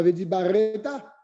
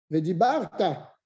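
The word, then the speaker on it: וְדִבַּרְתָּ: Veshinantam, le nom ne se prononce pas. Tu ne dis pas Veshinanetam, Veshinantam, c'est un chevanach. Vedibarta, c'est pas Vedibareta, Vedibarta.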